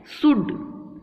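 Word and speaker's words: should: एल इसमें जो होता है वो साइलेंट होता है, साइलेंट होता है, इसका मतलब कि एल का उच्चारण यहाँ पे नहीं होता है, ठीक है। तो शुड, कुड, वुड, शुल्ड नहीं बोलना है, कुल्ड नहीं बोलना है, उल्ड नहीं बोलना है। बहुत से बच्चे गलती करते हैं, शुल्ड, कुल्ड, उल्ड बोलते हैं, तो दैट इज रॉन्ग।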